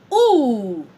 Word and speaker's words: ou: OU is pronounced ooh.